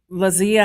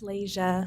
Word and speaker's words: Lasia: Lazia. Or did I say it right, Lazia or Lazia? It's Lasia. Lasia.